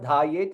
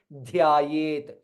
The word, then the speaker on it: Dhyayet: There is yakara also. It is not dhayet, it is dhya. Both letters has to be clearly pronounced. Dhyayet.